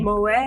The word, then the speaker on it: Moet: It's Moet. Moet. Yes, Moet, darling. Oh. The T is silent.